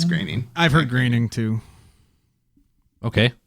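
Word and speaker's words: Groening: interview about Futurama and it's Matt graining 100% it's graining not groaning that's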